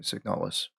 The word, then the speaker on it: Signalis: Okay, I found it. You pronounced it correctly the first time. Okay, signalless.